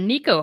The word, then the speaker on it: Nieko: Nick Nico yeah so my real name is actually Nico but it's spelled different it's spelled n i and uh so it's